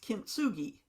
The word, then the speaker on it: kintsugi: Japanese word it's pronounced kinsugi but it's formed from two words kin and tsugi kin means golden and